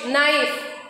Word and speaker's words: knife: So K is silent. Knowledge, knife, knee, night. In all these words, K is coming before the letter N. So K will be silent in this case.